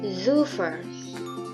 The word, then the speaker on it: Super: Nah, S ini dia untuk pelafalannya berbeda dengan Indonesia, di mana S dalam bahasa Jerman itu dibaca antara S dan Z. Jadi S-nya hanya samar, jadi seperti Z. Contohnya ada Super, yang kalau dalam bahasa Jerman itu dibaca Super, atau yang artinya great.